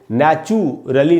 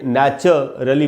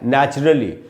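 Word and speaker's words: naturally: इसमें जो यू है उसको ऊ नहीं अ पढ़ेंगे, इसलिए इसको नेचुरली नहीं पढ़ के नेचुरली पढ़ना है। नेचुरली, और नेचर भी नहीं है, सिर्फ नैच है, नेचुरली, ऐसे इसको पढ़ेंगे, यही इसका करेक्ट प्रोनाउंसिएशन है।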